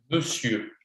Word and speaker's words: monsieur: Monsieur. Monsieur. Me. So we spell it mon, but we say me. So it's M, E, S, I. D'ailleurs, c'est I. Monsieur. like this. It's really special.